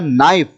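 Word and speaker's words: knife: बाद next word है नाइफ नाइफ का मतलब होता है चाकू और उसमें के साइलेंट रहेगा उसके बाद नेक्स्ट जो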